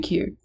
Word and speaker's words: Kier: I don't exactly know how to pronounce that. Kier, I'm guessing. Call me Kier.